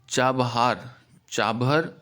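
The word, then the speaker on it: چابهار: Iran में एक चाबहर port, pronunciation में भी different, चाबहार we can say also, but that will involve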